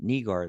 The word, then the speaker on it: Nigar: Uh, is the pronunciation like nay and neighbor? Nagar. Hey, yeah, that could be. But I Hagar. think I think she said when I said Nigar that that was the right one.